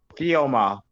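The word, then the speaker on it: Thoumeaux: e a u x kioma the x is silent yeah these names I've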